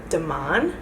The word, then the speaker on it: Demain: I was so excited because I got an email from DEMAIN.